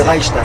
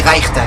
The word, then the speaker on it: Reichstag: Yiddish, la prononciation allemande, c'est Reichstag. Reichstag. Et en Yiddish, on dit Reichstag.